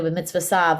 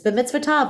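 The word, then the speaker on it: b'mitzvotav: Baruch atah Adonai, Eloheinu melech haolam, asher kidshanu b'mitzvah sav, which is incorrect. It's b'mitzvah tav with a T, not sav with an S. But that's how it was in the Yiddish pronunciation.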